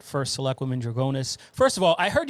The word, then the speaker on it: Drugonis: But, yeah, I say Drugonis because that's how I was taught to say it. But my mother-in-law will always say Drugonis.